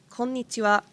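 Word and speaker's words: こんにちは: last lesson about hiragana why are you pronouncing it as wah so it's special when it is used in konnichiwa and although it is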